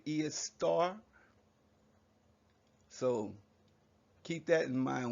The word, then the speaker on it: Esther: esther in your book they taught you to pronounce it esther when it's actually is star so keep that in